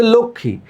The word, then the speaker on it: লক্ষ্মী: যেমন ধরো আমরা বললাম এটা হচ্ছে লক্ষ্মী। কিন্তু দেখো এতো আমি ম লিখছি। তাহলে লক্ষমী বলছি না কেন? লক্মী বলে তারা।